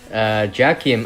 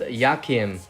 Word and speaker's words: Jakim: Jakim. I suppose the name is pronounced Yakim. Because I've seen that name before. I know it's actually Yakim.